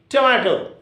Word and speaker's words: tomato: Okay, there are 3 syllables and the accent should be on ma. Tomato, tomato, tomato. So, 2 is almost inarticulate and this last 2 is also inarticulate. And where shall we give the stress or accent?